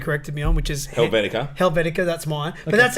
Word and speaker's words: Helvetica: Bharata yeah mine is the one that I'm pronouncing correctly a topi corrected me on which is Helvetica Helvetica that's mine but that's an Apple one